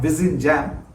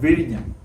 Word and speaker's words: Vizhinjam: Roll your tongue over and get it right, like Kozhikode and Alappuzha. So not Vizhinjam, but Vizhinjam. But don't worry, you'll get